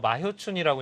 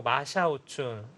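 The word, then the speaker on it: 马晓春: 마효춘이라고 이제 저희는 불렀었고, 서비평, 네. 임해봉, 이렇게 이름을 이제 했었는데, 그게 다 이제 중국식 발음으로 이제 바뀌었죠. 네웨이핑, 뭐, 마샤오춘, 린하이펑, 뭐 이런 식으로.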